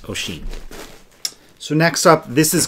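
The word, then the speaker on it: Oisin: o i s i n but um it's pronounced oen so next up this is going to be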